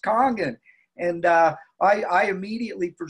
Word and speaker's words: Kangen: I call it comms or honor because it's pronounced kangen and I I immediately for some reason my